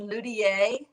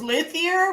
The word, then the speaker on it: luthier: I thought it was luthier, but I think it's luthier because I know that my audio guy would have, the narrator, that he did his research and that's how he pronounced it.